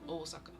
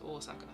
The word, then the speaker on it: Osaka: Um, Osaka, that's somewhere in the middle between the English pronunciation and the Japanese pronunciation, but the Japanese pronunciation is Osaka.